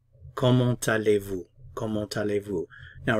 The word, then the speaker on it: comment: Now, remember I said generally we don't pronounce consonants at the ends of words. So if I were to pronounce this word by itself, I would say comment, comment. But as I just explained in the previous example, a vowel sound follows.